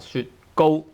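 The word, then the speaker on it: 雪糕: Go tone 1, 雪糕.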